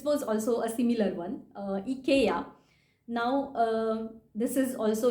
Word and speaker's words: IKEA: like oh yeah I forgot that this is IKEA and not IKEA how we pronounce it.